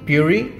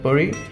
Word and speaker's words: Puri: For my last name, people tend to generally call it Puri, but it's actually pronounced as Puri.